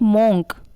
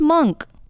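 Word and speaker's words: monk: इट्स नॉट मॉन्क, इट्स मंक, मंक।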